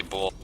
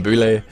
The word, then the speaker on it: Bull: As I was saying, I've been snapped at for pronouncing his name incorrectly. It is actually Bull. I'm sorry about that. Don't worry, man. I spent the last cast of the last 2 calling him Boule. But yeah, it's Bull.